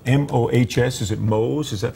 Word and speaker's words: Mohs: things like that, what about this surgery called MOHS? Is it Mohs? Is that the correct pronounce?